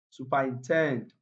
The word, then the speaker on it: superintend: Superintend, this is a verb. Like I said, verbs are often stressed on the last syllable or the second syllable, the last syllable. If you look at this word, the first three syllables contain weak vowel sounds, so they are not stressed. The only one that is stressed is tend.